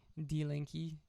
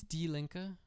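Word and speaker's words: Die Linke: then the linker d-linkie i don't know how that's pronounced i like to imagine it's d-linkie um link is it like six oh is it different oh yeah oh sorry greens are third it's d linka okay thank you link is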